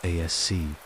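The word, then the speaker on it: Aos Sí: There were the Aos, often pronounced ASC, the people of the mounds, ancient spirits or deities who dwelt in the otherworld, in burial mounds and wild places.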